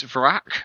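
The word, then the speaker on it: Vrakh: six and a six your name is varack which is spelt v-r-a-k-h of course it is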